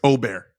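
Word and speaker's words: Åberg: Also, Ludwig Ober, it's Ober. That's the pronunciation. Since the Ryder Cup, not on here. It's going to be Aberg for forever.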